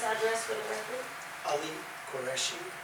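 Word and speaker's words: Qureshi: Ali Koreshi Koreshi is spelled as Q U R E S H I and 61 Hollywood Road California New Jersey.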